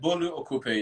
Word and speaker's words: Bolu Okupe: Is it Bolu Okupe? Is that right? Yeah, so you said it right. Bolu Okupe. You can just say it like that.